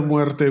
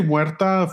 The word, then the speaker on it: Muerte: They do say Isla de Muerte weird. I think they say muerta female, but should be male muerte, but it's fine.